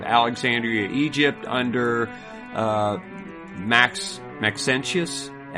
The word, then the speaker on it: Maxentius: uh 305 of alexandria egypt under uh max maxentius m-a-x-e-n-t-i-u-s persecution i don't know how to